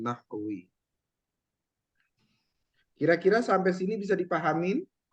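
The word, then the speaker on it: نحو: Sering banyak orang bilang sebutnya ilmu nahu gitu ya. Tapi kita bacanya ilmu nahwi.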